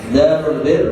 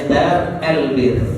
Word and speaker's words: Darul Bir: Darul Bir rumah kebaikan, Darul Muttaqin rumahnya orang-orang yang bertakwa. Darul Bir dikerenkan bacanya Dar El Bir. Nah, bahasa Arabnya hanya satu, Darul Bir.